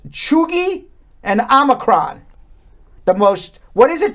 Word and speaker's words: omicron: words of the year yeah omicron they're calling it omarion and that and that